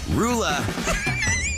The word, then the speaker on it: Roula: How the heck do you pronounce this woman's name? Roula.